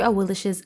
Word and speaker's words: Awilix: modes as well with that let's go through a Will's abilities oh and a quick side note that is actually how you pronounce her name correctly a Will's passive initiative